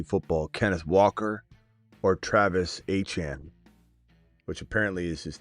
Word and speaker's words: Etienne: But Travis A-Chane is how you say his name.